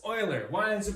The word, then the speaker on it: Euler: If you said Euler, leave. Euler. It's Euler. Why is it pronounced Euler?